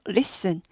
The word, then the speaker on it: listen: listeners 이렇게 되죠 listeners List 단데 티가 무음이 List 하지 않고 Listen List Listen가 무음 영국 영어는 무음이 아니에요 영국 영어는 List 하고요 그리고 미국의 중부하에 그래서